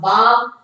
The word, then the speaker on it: balm: Your headache will disappear if I rub some balm on your temples. L is silent.